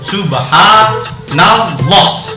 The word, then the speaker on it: Subhanallah: sebelum lafal Allah fathah Saya misalnya menulis begini Subhanallah nah Subhana nah ini fathah ini dah maka lafal Allah akan terbaca O Subhanallah pakai O ini namanya